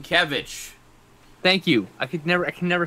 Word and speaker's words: Sienkiewicz: Bill Szyszyk. How do you say that guy's name? Sienkiewicz.